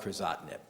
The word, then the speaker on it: Crizotinib: It also ends in the 2 letters IB, so it rhymes with Erlotinib. It's called Crizotinib.